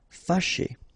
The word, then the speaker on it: fâché: Fâché. Remember, C and H together. Sh, sh. And then E, ché. Fâché.